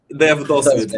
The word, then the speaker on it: devdosvid: Try to pronounce it correctly. Is it Dev This Dos? Dosvid. Dev Dosvid.